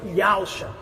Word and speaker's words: Yahusha: O termo correto para o Filho do Eterno é Yod-He-Vav-Shin-Ei, transliterado para YHWXA, e é salvação de Yahweh, pronunciado pelos judeus e também agora por nós, por Yahusha.